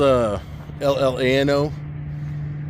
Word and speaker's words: Llano: It's spelled L-L-A-N-O. So a lot of the locals here call it Llano.